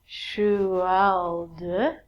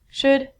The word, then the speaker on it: should: All of these L's are silent. So it sounds like should, could, and the thing that we get from trees, would.